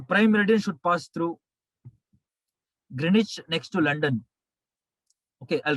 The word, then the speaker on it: Greenwich: green h w silent greenwich next to london uk uk it is pronounced as grenache in uk english uk english greenwich w silent w silent please sponsor us greenwich